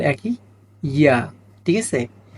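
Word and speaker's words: ياء: ইয়া, ইয়া শক্ত হবে না, স্বাভাবিক উচ্চারণ হবে এটা। ইয়া কি হবে, ইয়া, ইয়া। দুইটা ইয়াই উচ্চারণ একই, ইয়া।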